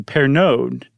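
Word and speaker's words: Pernod: family well perineud finally changed their name to pair node right p-e-r-n-o-d which is a very famous brand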